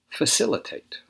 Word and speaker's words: facilitate: to hide their money facilitate facilitate this is a verb this is also stressed on the second syllable facilitate facilitate make an